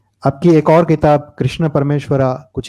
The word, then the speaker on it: परमेश्वर: आपकी एक और किताब कृष्ण परमेश्वरा कुछ ही समय में आने वाली है. हालांकि मैं जानता हूं कि परमेश्वरा योगेश्वरा नहीं बोलना चाहिए, योगेश्वर परमेश्वर है, पर ये स्पेलिंग है.